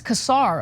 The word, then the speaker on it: Casar: I'm here for it is that how you say his last name Cera casar I think oh it's casar okay but I'm not sure